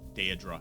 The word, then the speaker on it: daedra: technically no demons they are day a drop day adre listen the way I / / pronounce that daedra so my question is is